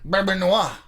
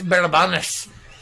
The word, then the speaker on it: Bourbonnais: Renee says, Bourbonnais, Illinois, pronounced Bourbonnais. Oh my God. Bourbonnois.